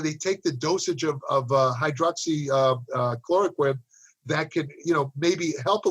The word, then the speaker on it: hydroxychloroquine: He insists that I always mispronounce it. Hydroxychloroquine. I always call it hydroxyquinone.